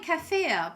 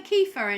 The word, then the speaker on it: kefir: So how Uh, do you pronounce it? I say kefir, but do you say kefir in the States?